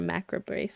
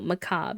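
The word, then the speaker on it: macabre: They want to attend a funeral because they're a macro brace sim. No, Macob. You told me how to say it. Macob sim.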